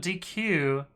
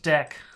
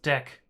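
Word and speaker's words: deque: deck on youtube so python clarifies this in their documentation they're like it's pronounced deck so if you're talking about python it's pronounced deck the name is pronounced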